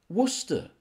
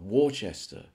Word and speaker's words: Worcester: what about this one yes Worcester not warchester you know I was